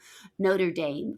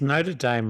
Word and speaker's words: Notre Dame: Is Notre Dame like Notre Dame? Correct. It's just how you say it in American.